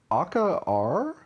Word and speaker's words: Akka Arrh: So this game is called Akka Arrh. It's spelled Akkaarrh.